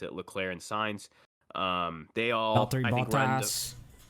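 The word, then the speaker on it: Leclerc: got joe gwen you i think that's he pronounced it leclair and signs um they all yeah i mean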